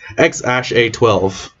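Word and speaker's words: X Æ A-12: uh ae a12 is the the name is pronounced x-a-12 okay yeah that kid is still gonna get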